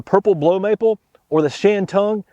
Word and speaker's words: Shantung: The Acer truncatum, it's known as, the common name is the purple blow maple or the Shantung. Some people pronounce that Shandoon.